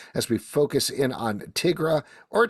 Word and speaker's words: Tigra: we focus in on Tigra or Tigra, depending on how you pronounce it. I say Tigra. You say Tigra? Tigra, not Tigra. Why would you say? She's a tiger. She's not Tigger.